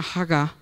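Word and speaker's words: הגה: el original del hebreo esa palabra meditarse se pronuncia jaga en hebreo y quiere decir murmurar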